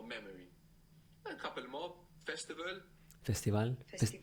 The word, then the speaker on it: festival: a couple more Festival Festival no no no Festival right Festival cuz the V is like a b Festival personal personal personal